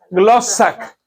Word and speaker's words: glossa: como glosa y cómo se pronunciaría se pronunciaría glac Cómo glossa verdad cuando hablamos nosotros de